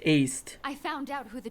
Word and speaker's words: Aced: None of their names are pronounced Indy, how they look. Ased! Ased. What's going on? It's aced.